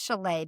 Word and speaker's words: Shelley Fowler: But anyway, we've talked about her in our call to actions, but Shelley Fowler, Okay. and I say it's Schellea because that's actually how you spell it.